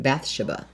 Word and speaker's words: Bathsheba: She's very beautiful, and her name is Bathsheba. Although in the movie they pronounce it Bathsheba.